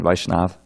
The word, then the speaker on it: Vaishnav: can remember that also one note on pronunciation which is very common vaishnav vaishnav it's a short a Vaishnav and tulasi - Lucy